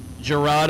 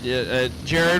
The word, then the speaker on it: Gerard: Our box round 2, wait and see by, is Gerard. Is it Jared? Okay. All right. It is spelled like Gerard, but just Jared.